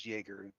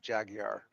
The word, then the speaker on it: Joerger: And yes, I did know how to spell how to pronounce Jerger instead of Jaguar.